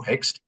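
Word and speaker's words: Hoechst: So I joined one of the best pharmaceutical company of those times hex uh h o e c hst uh a German uh pron pronunciation but Indianized into hex in 1987.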